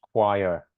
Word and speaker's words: choir: And it's pronounced choir.